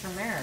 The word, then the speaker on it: turmeric: I know, then I kept hearing, why are people saying turmeric? Uh-huh. What are they talking about? Then I realized I'm the one saying it wrong. Uh-huh. Oh boy, I love it when that happens. Don't know everything. Yeah, and there's clearly an R there.